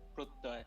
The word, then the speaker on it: Prottoy: Pratoy, how do I say your name? Sorry, I'm. Hi. Yeah, it's actually Prottoy, but it's a difficult name to pronounce.